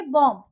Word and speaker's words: bomb: Okay, देखिए जैसे यहाँ पे लिखा है BOMB, बॉम्ब। ये इसमें अगर स्पेलिंग देखें तो बॉम्ब, लेकिन ब नहीं आएगा लास्ट में। बी को हम नहीं बोलेंगे, यहाँ पे हो जाता है बी साइलेंट, इसको हम बोलेंगे बॉम्ब।